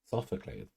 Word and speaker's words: Sophocles: I am pronouncing it correctly. Sophocles.